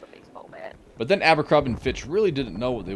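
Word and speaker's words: Abercrombie & Fitch: Or Finch, whatever it was. Oh, it's Abercrombie and Fitch. Multiple hostile spy planes detected. I said it right.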